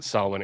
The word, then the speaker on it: Samhain: I don't know why it's pronounced Solomon, except that's just that's how it's pronounced or something.